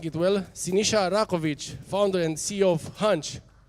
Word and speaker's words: Sinisa Rakovic: How you pronounce it? Sinisa RAKOVIC, or.